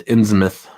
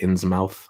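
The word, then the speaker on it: Innsmouth: all time it's a good novel uh it's pronounced in smith by the way yeah i know in smith but i've heard people say inn's mouth i've said in his mouth before um frankenstein greater than dracula's gigantic android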